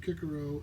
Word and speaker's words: Cicero: the critical studies of kicaro and vero or cicero and vero depending on how you want to pronounce it she discusses broader entertainment